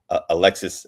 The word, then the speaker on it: Alexis: Last year, we actually ran a campaign for an adult artist named Alexis. It's pronounced Alexi, but Alexis Flower, called I Roved Out in Search of Truth and Love.